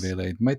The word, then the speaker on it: Vele: And DeVaugh Vele, is that how you pronounce his name? Vele.